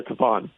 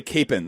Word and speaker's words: Kapaun: The Kapan thing is way different though. Capen and Kapan aren't even close. So what are we going with? Which what are we going with? Well, I I think every place uh except in Witchah, he's Father Kapan. Okay. So if I if I'm in Witchah, I say Capen or else I get I'll get in trouble.